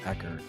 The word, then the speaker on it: Echard: And we are here today with our guest Clayton Pecker.